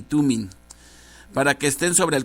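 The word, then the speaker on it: Thummim: juicio bring y tuning algunas pronuncian jurí ni tú me pero aquí yo estoy viendo que las palabras no traen acento entonces debe de pronunciarse touring y tuning para que estén sobre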